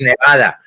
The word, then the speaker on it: Nevada: It's Nevada.